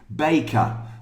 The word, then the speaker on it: baker: And a baker is the, but not baker, please. It's bay, like day. Baker.